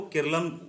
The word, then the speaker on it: Keralam: तो मलयालम में जो उच्चारण होता है वो केरल को केरलम उच्चारण होता है। और हम लोग जो केरल बोलते हैं उसका उच्चारण अंग्रेजी भाषा का होता है। ठीक है दोस्तों? तो जो हम लोग अंग्रेजी भाषा का उच्चारण है तो अंग्रेजी भाषा में हम लोग केरल बोलते हैं। और वहां का जो मलयालम भाषा है मलयालम भाषा में उसे हम लोग क्या बोलते हैं? केरलम बोलते हैं।